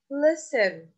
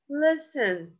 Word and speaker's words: listen: don't pronounce it to listen listen we write T but we don't pronounce t whistle whistle we write